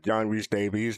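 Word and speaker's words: John Rhys-Davies: realize how to pronounce his name but yeah John re Davies that's how you pronounce it so yeah K what were your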